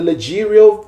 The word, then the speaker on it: leggero: So first of all, we have the Leggero tenor. It's spelled Leggieiro.